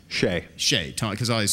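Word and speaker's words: Hsieh: How do you pronounce his last name? Shea.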